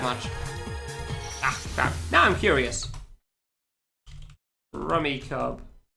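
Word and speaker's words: Rummikub: Rummy Cub. Rummy Cube. Ah, all right then. Never heard it pronounced that way before. Google, what do you say? English. Ramy cub. Huh? Google says you're wrong.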